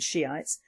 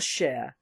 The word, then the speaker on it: Shiite: Well, as I foretold, Iraq is a total mess, fractionalised by Sunnis and Shiites. I do not apologise for this pronunciation, but it reads like Shiite, not Shia, as Niger is not Niger.